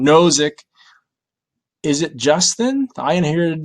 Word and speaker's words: Nozick: is this uh oh so so robert no novick zick sorry i always say his name wrong nozick is it justin i inherited this money you